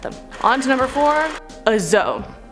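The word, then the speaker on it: dzo: on to number four azo this is spelled d-z-o or d-z-o the zo is a hybrid of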